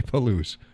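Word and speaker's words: Palouse: I don't want to start the string of me pronouncing stuff correctly anymore. I butcher everything. But I said it right. Okay. Paloo.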